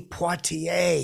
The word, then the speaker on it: Poitier: an Oscar is Sidney Poitier he said that to me and uh I know who Sidney Poitier is I I pronounce the RS I probably shouldn't have I was flustered I